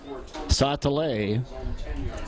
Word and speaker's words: Satale: And I went to his mom, and his mom would certainly know how it's pronounced, and she told me it is Satale, and that's what we're going with, and that's what the PA guy, I believe, is going with.